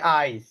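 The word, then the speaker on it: eyes: চক্ষু ই ওয়াই আর এটার সাথে যদি আরেকটা এস লাগিয়ে দাও তখন আই উচ্চারণটা এটা কিন্তু আর স এর মত থাকবে না এর মত হয়ে যাবে লেখাতে তুমি এস পাবা কিন্তু বলতে জ এর মত বলতে হবে ওযেড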